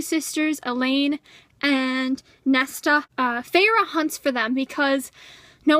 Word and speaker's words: Feyre: I thought it was Fire. Honestly, I thought it was Fire, and then it wasn't Fire, and apparently it's Feyre.